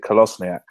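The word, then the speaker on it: Kolašinac: video on youtube of him pronouncing his name and he pronounces it callous niak closing act colossal yank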